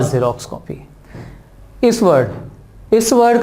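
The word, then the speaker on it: Xerox: एक्स से ये भी शुरू है लेकिन इसका प्रोनाउंसिएशन जेरोक्स होता है, ज, जो कि वॉवल में तो नहीं आता।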